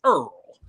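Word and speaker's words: IRRRL: worry about that because you can do what's called uh i r r l we pronounce it Earl and or what Earl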